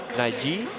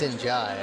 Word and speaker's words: Njai: Number 9, Edressa Naiji. Is that how we pronounce that? Njai. Or it's Njai, actually.